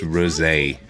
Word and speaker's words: rosé: It's pronounced rosé.